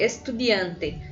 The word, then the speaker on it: estudiante: Agora tem uma palavra grande aqui, estudiante. Estudiante. Estudiante. Observe que em nenhum momento de nenhuma das 4 sílabas eu dou um ênfase. Estudiante, estudiante. Então, todas elas são átomos, tá bom, gente?